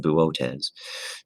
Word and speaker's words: Boötes: And so for the constellation Boötes, which is, again, is a weird pronunciation, but that's how it's pronounced, Boötes, there is a very bright and very significant star called Arcturus in the constellation Boötes.